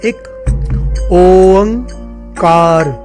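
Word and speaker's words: ਇਕ ਓਅੰਕਾਰ: बहुत सारे लोग एक ओंकार बोलते हैं, बहुत सारे लोग अलग अलग तरह से बोलते हैं। असल में इसकी प्रोनाउंसिएशन इस प्रकार से है, एक ओंकार।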